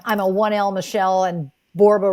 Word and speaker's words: Borba: a oneel Michelle and borba rhymes with Zorba so there you go